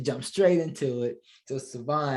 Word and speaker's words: Sevon: Sevon, right? Absolutely. That's right. Yes, sir. I got it right. So you guys are reading this Sevon, not Sevon, not Seven, Sevon.